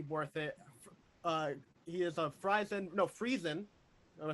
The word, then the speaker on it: Friesen: He is a Friesen. Am I saying it right again? Friesen Press.